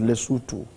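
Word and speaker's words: Lesotho: Group C are South Africa, Rwanda, Benin, Nigeria, Leutu and Zimbabwe. That's group C. uh not le but lutu that is the pronunciation of that uh nation then group D uh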